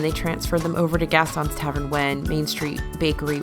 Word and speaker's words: Gaston: Gaston's Tavern is...